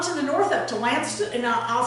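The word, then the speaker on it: Launceston: sounded like to me, but it had a whole bunch of extra letters in it that didn't get pronounced. Lanston.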